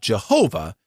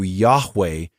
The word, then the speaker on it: Yahweh: And since 1931, they have insisted that he be called Jehovah, which is actually, if you look up that word, it's actually a mispronunciation of the Hebrew Yahweh, which occurred about the